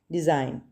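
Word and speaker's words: design: डिज़ाइन, जी को underline करेंगे, ये साइलेंट लेटर है।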